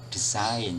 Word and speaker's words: desain: Ya, kemudian berikutnya kata desain ya, dalam bahasa Inggris yang dilafalkan dalam bahasa Inggris pelafalannya design, ya. Kemudian diserap ke dalam bahasa Indonesia, tulisannya disesuaikan, desain, ya, desain, ya. Yang dilafalkan juga desain.